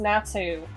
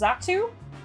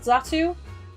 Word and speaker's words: Xatu: The letter X sounds like the letter Z. I need to chase down the person that told me that Pokemon's name is pronounced Natu. And you're saying it's pronounced Xatu?